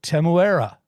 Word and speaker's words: Temuera: I looked it up actually, and there's kind of an Australian twang when an Australian's doing it, but the best I could of it, Temuera.